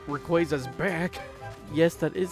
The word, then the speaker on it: Rayquaza: It would have been nice to see you sparkle and not Rayquaza's back. Yes, that is how you pronounce it.